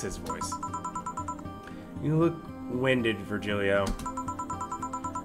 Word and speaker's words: Virgilio: we go that's his voice you look winded Virgilio it's pronounced ver here e Oh fine no I'm pretty sure it's for